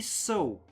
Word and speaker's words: Sault: It's S-A-U-L-T, but I believe you don't really pronounce the L because it's there's Sault Ste. Marie, which is, I believe, the exact same spelling. Yeah, Sault Ste.